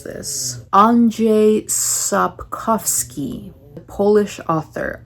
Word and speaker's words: Andrzej Sapkowski: my goodness, let me see if I can pronounce this. Andrzej Sapkowski, Polish author, Andrzej Sapkowski.